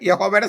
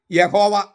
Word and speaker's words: യാഹ്വേ: ഈ 4 അക്ഷര ദൈവനാമത്തിൽ സ്വരാക്ഷരങ്ങളില്ല. അതിനാൽ അതിൻ്റെ മൗലികമായ ഉച്ചാരണം യാഹ്വേ എന്നാണ്.